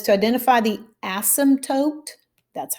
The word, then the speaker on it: asymptote: says to identify the asymptote that's how you say it no i'm not cussing at you it's kind of like the p is silent asim tote graph each equation and